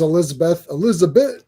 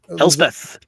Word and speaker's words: Elspeth: It was actually Elsbeth this entire time that we just didn't. Elspeth, yeah.